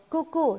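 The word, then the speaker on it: coucou: 布谷鸟，单词的发音类似布谷鸟的叫声。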